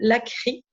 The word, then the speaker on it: Lachri: inspirée par une youtubeuse qui s'appelle Lacry. Ça s'écrit Lachri et qui publie des vidéos pour apprendre à peindre.